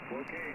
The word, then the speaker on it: Cloquet: Thank you for, is it pronounced Cloquet, Minnesota? Go ahead. You got it, Cloquet. Yep, Cloquet, Minnesota.